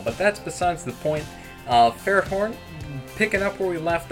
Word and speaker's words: Ferrothorn: I know people pronounce it Ferrothorn. I call it Ferret Horn. I know there's Thorn in there, but that's just me.